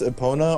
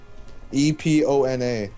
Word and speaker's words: Epona: What's it pronounced? Epona or whatever from Legend of Zelda, the horse. E P O N A.